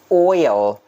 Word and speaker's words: oil: delicious as well mayonnaise oil oil do not forget to pronounce the l sound at the end oil oil vegetable I